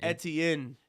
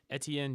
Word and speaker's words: Etienne: away Derek how do you say his name Etienne Etienne jr.